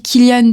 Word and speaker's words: Cillian: Leur acteur principal, justement, il s'appelle, ça commence par un C et on dit Killian, tu vois, et ça s'écrit Cillian, avec un C aussi.